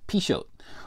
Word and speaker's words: Pixote: Okay, so it's spelled Pixody. That's what I thought it was, but it's actually pronounced Pixote.